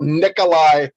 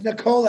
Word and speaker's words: Nikola: caught you're talking about nikolai tesla no it's nicola actually if you pronounce it correctly okay i beg the